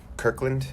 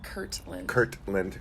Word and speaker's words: Kirtland: So it's Kirkland. Is that how you say it? Kirkland? Kirtland. Kirkland is the brand of Costco stuff.